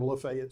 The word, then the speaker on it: Lafayette: At one time, there was a literal alley that branched off of Lafayette Street here, or Lafayette Street as the locals say.